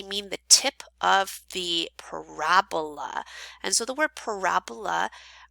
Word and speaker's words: parabola: When they say the vertex, they mean the tip of the parabola. And so the word parabola represents the shape of a quadratic function. So it's pronounced parabola, not parabola. It sounds like a disease, okay?